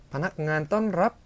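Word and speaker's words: พนักงานต้อนรับ: 떤랍 바낙안 떤랍 이라고 발음하시면 되는데요.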